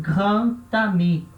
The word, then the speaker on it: grand ami: Só que quando junta o D com qualquer vogal, o som que vai produzir é um som de T, tá? Então, a gente fala isso un grand ami.